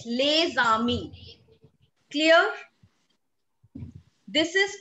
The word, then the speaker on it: Les Amis: So here in this case, we carry forward the sound of alphabet S along with the alphabet A. That is why we call it Les Amis.